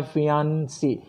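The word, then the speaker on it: fiancé: यह मेरी मंगेतर है, this is माई फियांसी, फियोंसी, फियोंसी, फियोंसी, female फियोंसी।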